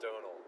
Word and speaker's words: Domhnall: for both were hilarious it's fairly pronounced Donal don't know it's like Donald but without the D and it's with like